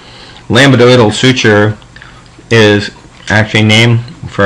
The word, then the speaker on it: lambdoidal: eyes at me so lambdoidal isn't actually how you say it you say lambdoidal but i say lambda boydle so thank you remember